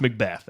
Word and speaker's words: MacBeath: It's spelled MacBeath, but it's Macbeth, and it happens a lot. Right. I get people I've known for years call me MacBeath and have no idea. So it's Macbeth.